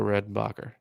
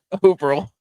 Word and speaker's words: Orville: Over Redenbacher. Okay, first of all, that's not how you say it. Overall. Oh my gosh, it's Orville, yes, but that's 53%, and